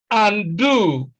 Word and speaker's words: undo: Now, I mean, A is undo, undo, undo. You see that stress is on the second syllable because the first syllable is a prefix. And one of the rules of stress is that prefixes are almost always unstressed.